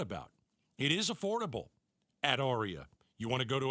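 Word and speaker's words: Aria: Joe at Arya Dental Implant Center. It's spelled A R I A.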